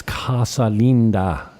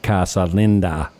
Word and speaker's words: Casa Linda: It's Casa Linda, not Casa Linda.